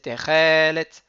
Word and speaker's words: תכלת: il est mis les c'est pas techelet, c'est techelet.